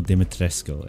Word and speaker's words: Dimitrescu: Castle Dimitrescu.